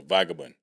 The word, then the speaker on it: vagabond: Yeah, In other words, he was a vagabond. I was. I must have been Vagabond.